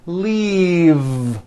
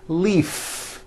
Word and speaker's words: leave: has an unvoiced f the word is leave with a voiced v keep the voicing going throughout the whole word and voice the v leave like that if you stop the voicing at the end of the vowel e then you would be saying leaf with an unvoiced f and the word we're trying to say is leave with that voiced v okay now let's look